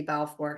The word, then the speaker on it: Balfour: easily contact Debbie Balfour.